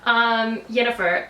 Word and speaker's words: Yennefer: I may have said her name wrong last time. Yennefer, and so I want